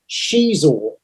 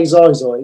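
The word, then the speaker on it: Xizor: It goes through all of it, and then Black Sun famously run by Prince Shizor. So that's how you say it. You don't say Zizor, it's Shizor.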